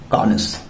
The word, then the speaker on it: connoisseur: कॉनिस। Spelling देखिए, CONNOISSEUR।